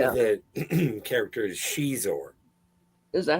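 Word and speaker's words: Xizor: The name of the character is Shizor. Is that how it's pronounced? Yeah. Who knew? With an X. Yeah. Yeah. I always as a kid I always just pronounced it Zizor because So did I.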